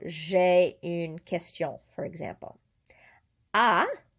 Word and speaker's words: as: Ah, pronounced the same as this. We don't pronounce the S because it's not part of careful, right?